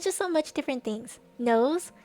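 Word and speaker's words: Nous: Knows, N-O-U-S. Knows. I think that's how they pronounce it.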